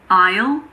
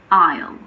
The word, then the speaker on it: aisle: Unfortunately, there aren't really any rules here, but luckily there aren't that many words that have a silent S. Some of the most common ones are aisle, bourgeois, debris, island, and aisle.